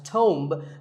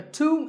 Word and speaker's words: tomb: often wrongly pronounced as tome but the B is silent and the O is pronounced with in blue sound so - a tomb is a place like